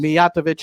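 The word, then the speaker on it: Mijatović: rid we gotta getov thank you miat third syllable from the end movich and I've butchered it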